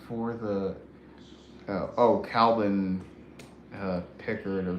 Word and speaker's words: Pickard: who's in that for the Oh, Calvin uh Pickard or Picard or however How do you pronounce his name? Pickard.